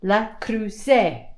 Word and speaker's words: Le Creuset: Le Creuset. That's how you say it. Le Creuset pans.